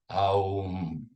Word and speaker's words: Om: So when we pronounce, you could say, if you subdivide it, it's like, even though we call Om one syllable, it's really 3 syllables, A or Aum, which, to digress slightly, if